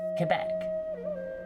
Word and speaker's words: Quebec: it quebec around here it's called quebec yes because you say it with a french accent and cues sound like keys i'm probably quebec lick